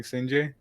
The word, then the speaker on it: Sinjay: I know I told you about the pronunciation being Sinjay, which is basically like a hidden meaning in the tag, but that's mostly like something for me.